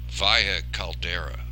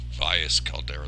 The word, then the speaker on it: Valles Caldera: We're back at Valles Caldera. I said Valles Caldera the last time, and the S is silent. It's the Spanish pronunciation, as opposed to Mars, which is Valles Marinaris, which they pronounce the S.